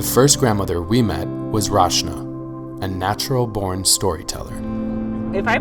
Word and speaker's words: Rachna: Rachna.